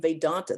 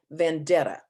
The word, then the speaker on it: Vedanta: have heard the name vedanta they say vendetta or vendanta i think they they cannot even pronounce it know what it means